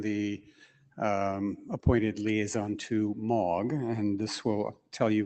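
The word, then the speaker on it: M3AAWG: against it uh so the three is silent in that name in 2009 they asked the ietf for liaison and I was it so here's a MOG slide um tells you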